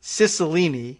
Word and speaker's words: Cicilline: Catherine Clark and David, I'm told, Cicilline is how he pronounces the name.